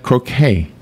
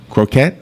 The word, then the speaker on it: croquet: 1900, the Summer Games were held in Paris, France, and that year they had croquet. Croquette? How do you pronounce it? Croquet. Croquet. They had croquet.